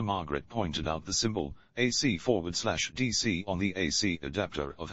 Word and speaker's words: AC/DC: performances of their music it is pronounced one letter at a time though the band are